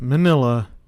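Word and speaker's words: Minilla: of words a portmanteau a combination of miniature and godzilla which is why the pronunciation of manila is correct manila was played by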